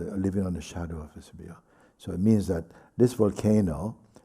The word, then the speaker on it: Vesubio: Se llamaba: "Vivir a la sombra del Vesebio". Vesebio es el volcán. ¿Vesubio? ¿Cómo se dice? Vesubio.